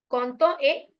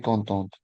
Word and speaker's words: contente: So pronunciation will also change. It will be content, it will be content. Content et contente.